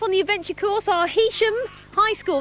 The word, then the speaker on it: Heysham: Right, first off on the adventure course are Heysham High School. That is how you pronounce it, isn't it? Heysham? Yeah. It's spelled H-E-Y though.